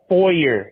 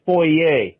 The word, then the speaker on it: foyer: It's not pronounced foyer. It's pronounced foyer. It sounds so fucking stupid calling it a foyer. It's a foyer. It's a fucking French word.